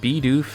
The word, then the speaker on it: Bidoof: This one though, apparently I've been saying Bidoof and Bibarel wrong. I just have to change the vowel sounds to Bidoof and Bibarel.